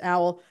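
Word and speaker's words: OWWL: o w WL sorry I don't owl just owl I wasn't sure if it was actually pronounced Al So Daniel I'm sorry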